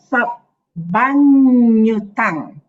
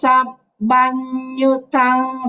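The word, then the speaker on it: sabbaññutaṃ: Okay, remember the double syllable, the N with the muruku, nya, nya, nya. If double N is nya. Okay, so Yassa Mule Nisinova Sabbari Vijayang Akha Patto Sabbanyutang Satta Vande Tang Bodhipadapang.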